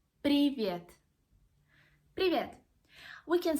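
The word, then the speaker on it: привет: one is an informal way to say hello privyet privyet brilliant we can say to our friends you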